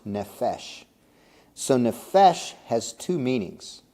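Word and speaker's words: נפש: and then there's three letters those those are pronounced nephesh so nephesh has two meanings and this isn't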